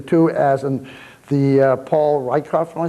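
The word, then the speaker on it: Rieckhoff: Bruce, I think the show started off with a debate between the two, as in the Paul Rykoff, am I saying that correct? Correct. I believe that's how he pronounces his name.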